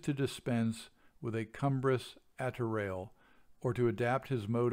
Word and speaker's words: attirail: At this point, I had to look up the word attiraille, which is spelled A-T-T-I-R-A-I-L.